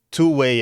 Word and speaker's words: 2WAI: Então, o aplicativo que a gente está falando hoje, ele se chama Two-Way, é 2WAI, tá, que se escreve, e ele é de